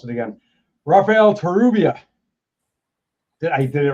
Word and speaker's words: Rafael Torrubia: It's the double R that always throws me off, because I can't roll my R's.